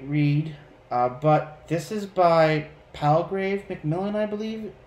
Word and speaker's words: Palgrave Macmillan: Very great read, but this is by Palgrave Macmillan, I believe it's pronounced.